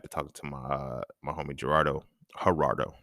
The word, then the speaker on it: Gerardo: And then I go back to talking to my homie Gerardo, not started with a G, but it's pronounced with H.